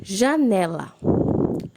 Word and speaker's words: janela: Janela. Né é a sílaba mais forte, então ela é uma paroxítona, está na penúltima sílaba.